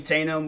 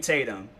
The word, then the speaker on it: Tatum: my remember how um Channing tanum was and uh I feel like I said his name wrong Channing Channing Tatum I regardless but how